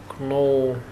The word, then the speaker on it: know: He doesn't know... нет, remember me. He doesn't remember me. В слове know K не произносите, K не звучит здесь.